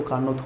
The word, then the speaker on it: Carnot: यहाँ पर T होता है वो क्या होता है, साइलेंट होता है, इसलिए इसे क्या बोलते हैं, कार्नोट चक्र बोलते हैं, साइकिल, ठीक है।